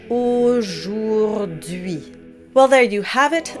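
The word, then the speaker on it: aujourd'hui: So now that we have all four sounds, let's do the word syllable by syllable. Au jour d'hui. Au jour d'hui.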